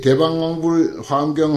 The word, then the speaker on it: 대방광불화엄경: 습관 때문에 그런데 사실은 대방광 불화엄경 이렇게 읽어야 맞다는 것입니다. 띄어서 만약에 읽으려면 대방광불 화엄경 이건 이제 사삼조 우리의 그 전통 한국 사람의 그 언어 습관에 의한 것이지 정확하게 읽으면 대방광 불화엄경 꼭 대방광 불화엄경이라고 읽는 스님이 또 있어요. 이걸 요 원칙을 지켜서 그래서 이제 불자는 그 밑으로 그 붙여서 읽어야 된다.